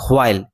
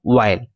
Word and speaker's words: while: এই দুটি শব্দ উচ্চারণের সময় আমি হয় এর উচ্চারণ করে হুইচ এবং হোয়াইল এরূপ উচ্চারণ করিনি, যতবারই উচ্চারণ করেছি উইচ এবং ওয়াইল, অর্থাৎ হয়ের উচ্চারণ হয়নি।